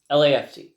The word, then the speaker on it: LAFC: uh Los Angeles FC lafc is uh how they pronounce it um yeah and we